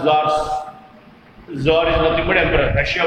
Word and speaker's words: Tsar: Tsar. Tsar. ZAR or TSAR, no problem. Pronunciation is Tsar.